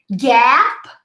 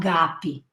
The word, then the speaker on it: Gap: For you to pronounce this A sound, you got to be able to stick 3 fingers in your mouth like this. Ah. This is how much you have to open your mouth to be able to pronounce the sound correctly. We don't have this sound in Portuguese. It's very open A. Ah, gap, not gapi. Okay?